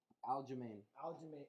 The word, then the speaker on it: Aljamain: Aljamain.